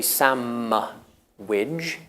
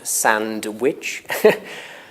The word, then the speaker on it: sandwich: a restaurant whatever sandwich I say some wig not sandwich why why do you think